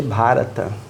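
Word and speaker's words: Bharat: plebiscito e o nome vai voltar a ser barata que muita gente fala bar n mas é BH bha e é a pronúncia diferente de barata então provavelmente muita gente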